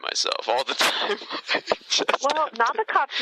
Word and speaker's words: Nabokov: Well, Nabokov's name is Nabokov. But if I say it like that...